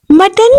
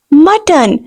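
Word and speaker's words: mutton: गोश्त को इंग्लिश में मटन कहते हैं very important you all know बकरे के गोश्त को इंग्लिश में मटन कहते हैं the word is मटन this is नॉट मुटन know the word is मटन next one okay शराब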